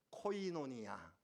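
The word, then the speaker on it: κοινωνία: 사귐에 헬라어를 무엇이라고 합니까 알고 계시는 것일 텐데 발음 때문에 아마 말씀 안 하실 거예요 제가 말하면은 우리 같이 따라 사시기 바랍니다 코이노니아 한번 더 코이노니아 코이노니아 영어로는 펠로우쉽 우리말로 교제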